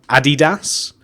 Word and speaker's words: Adidas: over here it's like in America you have a DDoS that's what we call it in the UK at least around here and like Americans and maybe other people call it Adidas so I guess it depends where you're from